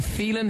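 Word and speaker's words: Filan: You know, when you give it to TV shows back 11 years ago when we started, it's pronounced Phelan, but like it doesn't really matter, you know, because I'm Shane from Westlife, really.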